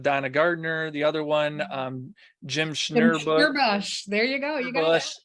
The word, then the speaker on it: Schnurbusch: The other one, Jim Schnurbush.